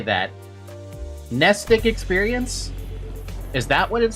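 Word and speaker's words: Mnestic: It is nestic. I said it right then.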